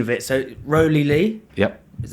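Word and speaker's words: Rowley Leigh: So the pronunciation of it. So Rowley Lee.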